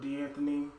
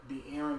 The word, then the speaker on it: De'Aaron: I was aware of D'Anthony. No, is that how you say D? Ooh, I gotta remember how to say it, but he is good. De'Aaron Fox.